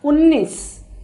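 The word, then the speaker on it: उन्नीस: Now 19 is pronounced as unnis. Unnis. U-N-E-E-S. So unnis. So we are pronouncing N little more.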